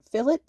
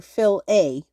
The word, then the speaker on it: filet: Fillet, like the word fill followed by it, or fill a, like the word fill followed by with a long a sound.